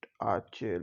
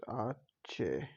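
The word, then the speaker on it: hache: It is H, but in Spanish, it's particular alphabet. We pronounce it. We tell it Ache like this. Ache.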